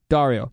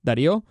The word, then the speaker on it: Dario: I gave up and I started saying, just Mario with a D. Dario. That's not how you say it. In Spanish, it's Dario.